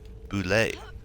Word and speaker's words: boulet: Because it does not look like boulet. Which is why I had the exact notes of how to pronounce it in my notes. I'll type it out real quick. That is pronounced boulet.